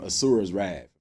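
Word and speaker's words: Asura's Wrath: is the same people that made the game asuras wrath I'm pronouncing that right in it there was a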